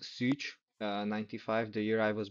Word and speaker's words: Szucs: It's like Martin, like with an underline, Szucs, like pronounced Szucs, 95, the year I was born.